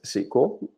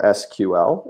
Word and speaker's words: SQL: We're going to talk about what is SQL, or SQL, if you prefer.